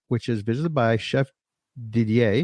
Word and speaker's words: Didier: is visited by Chef Didier did I say it right yeah keep still want to say diddler that's what it looks like on the screen and I'm not even